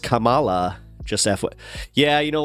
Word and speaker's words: Kamala: So it's pronounced Kamala, just FY.